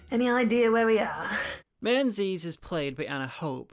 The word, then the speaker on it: Menzies: And Menzies is a Scottish name, and the Scottish pronunciation is Mingus. Fun side note, but years ago, the leader of the Lib Dems was Sir Mingus Campbell, nicknamed Ming the Merciless.